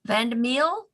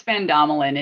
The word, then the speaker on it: Vandemel: today is deborah vandemel vandamill did i massacre your name it it's fandomalin and and all right i